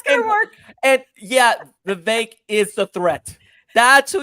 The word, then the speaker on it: Vivek: Let's just remember that Vivek is actually pronounced Vivek.